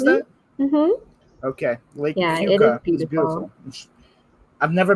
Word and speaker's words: Keuka: That's how you pronounce that? Mm-hmm. Okay. Lake Cueca.